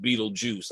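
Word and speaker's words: Betelgeuse: It looks like Beetlegeist, but it is pronounced Beetlejuice.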